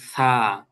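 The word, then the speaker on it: ث: এরপরে হল ছা। এই ছাটা উচ্চারণ হলো ওই মানে দুই পাশে যে দাঁত আছে এই দাঁতের মাঝখান দিয়ে জিহ্বাটা হালকা বের হবে। বের হয়ে এরপরে বাতাস ছাড়তে ছাড়তে এই অক্ষরটা উচ্চারণ হবে।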